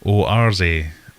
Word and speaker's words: Oase: Oase. Does anybody want to jump into chat and tell me how to say it? There you go. Oarze is how George Farmer...